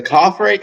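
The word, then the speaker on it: Khafre: the ground and I I think you pronounce uh it's the coffay is is the coffay is that how you say it pyramid coffay pyramid yeah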